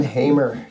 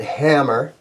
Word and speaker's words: Hamer: comments guys thoughts on Hamer guitars some guys pronounce it hammer but that would be wrong but when when Hamer